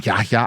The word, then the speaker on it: Yahya: Yaya. Yaha. Yeah. So the h is not silent. Uh everyone says yaya.